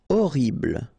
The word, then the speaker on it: horrible: Horrible. Okay, first letter is H, but then we don't pronounce H, so you don't pronounce it. And the first thing you hear is O.